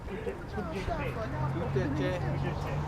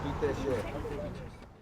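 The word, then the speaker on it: ཐུགས་རྗེ་ཆེ: Tout est cher. Tout est cher.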